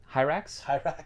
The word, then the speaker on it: Hyrax: Hyrax? Yeah. Yeah. It rhymes with Styrax.